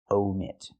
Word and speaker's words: omit: Use the long O like no and go. Omit.